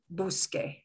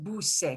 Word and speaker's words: busque: out the opposite vowel, that B-U-S-C-E would not be pronounced busque. It would be pronounced busse because C-E is the S sound.